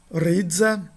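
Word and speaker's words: ῥίζα: Ridza, né? Significa raiz, é também, de novo, som de R.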